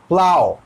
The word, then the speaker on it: plough: बहुत सिंपल है, प्लाउ, लेकिन प्लॉग नहीं, प्लाउ। हम लोगों ने क्या किया है? PL। ऐसे तो अगर आप प्लॉग भी कहते हैं तो PL तो लेते हैं, प्ल प्ल। और OUGH का प्रोनाउंसिएशन आओ होता है, प्लाउ। OUGH क्या बन गया? ऑग नहीं बनेगा, आओ, प्लाउ।